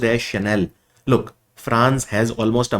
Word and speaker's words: Chanel: It is pronounced as Chanel.